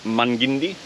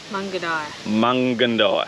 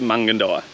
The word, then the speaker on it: Mungindi: We've been saying Mungindi, but it is Mungindi. I believe Mungindi.